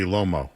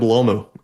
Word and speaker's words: Lomu: Whenever I feel like I say his name, it reminds me the emu limo, you know, the commercial, but it's really Lommo, right? Yeah, it's it's Caleb Lomu.